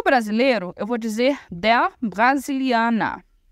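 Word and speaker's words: Brasilien: é o Brasil Brasilian atenção para pronúncia né vou falar Brasilian Brasilian que é o Brasil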